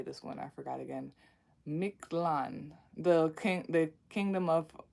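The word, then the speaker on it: Mictlan: to like say this one I forgot again miklan the king the kingdom of of the the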